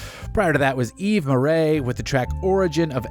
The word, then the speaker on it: Murray: That's right, it's Murray. I've confirmed it. That is how you pronounce that.